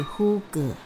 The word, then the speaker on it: hygge: 呼格是丹麦语，发音为呼格。